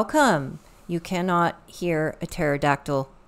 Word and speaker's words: pterodactyl: you cannot hear a pterodactyl P why because the p is silent cute cute ah more